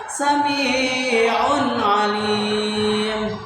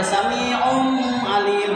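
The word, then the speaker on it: سميع عليم: Sami'un, itu harus jelas, tidak boleh sami'um alim, tidak boleh ada tanwin domahnya dimasukkan ke ain. Sami'u alim itu tidak boleh, karena salah. Cara membacanya itu kata tadi harus jelas ya, sami'un alim.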